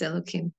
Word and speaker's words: Elohim: when it's back to usually it's when there are two names of Hashem one after the other and the second is pronounced elokim sometimes it is you